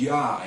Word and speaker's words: Jah: So that is Yah, even though it has a J there. And in the 16 and 11, it's Yah with an I. So it's definitely Yah.